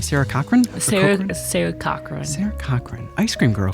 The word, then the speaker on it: Cochran: Sarah Cochran.